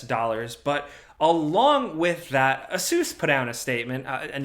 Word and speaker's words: ASUS: but along with that asus put out a statement and yes that is actually how you say it asus asus said it's reducing